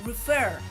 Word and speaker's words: refer: Cuando digo acentuada es la forma en que lo pronunciamos. Por ejemplo aquí, refer, hacemos énfasis, ¿no?